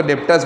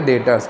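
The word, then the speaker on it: debtors: क्या बोलते हैं डेटर्स बी आप बोलोगे तो डेप्ट्स बोला जाएगा लेकिन शॉर्ट में बोलोगे डेटर्स बी साइलेंट है बेटा ठीक है डेटर्स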